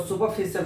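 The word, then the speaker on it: superficial: जैसे यूज किया हुआ ही हैज सुपरफिशियल knowledge of the math, इसको सुपरफिशियल पढ़ेगा। आर को स्लाइटली साइलेंट करके प्रोनाउंस करेंगे, आर के पहले वोवेल है।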